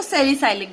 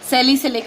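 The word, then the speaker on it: salicylic: सेलिसाइक्लिक acid, या इसको सेलिसाइलिक भी आप बोलते हैं. सेलिसिलिक एसिड, सेलिसिलिक भी बोलते हैं, सेलिसाइलिक भी बोलते हैं, depends on यू हाउ डू you pronounce it.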